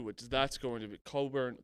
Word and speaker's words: Cockburn: up soon too which that's going to be coburn cockburn and uh dickinson you actually